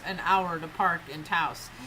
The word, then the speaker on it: Taos: Good old, no, Taos. It's Taos.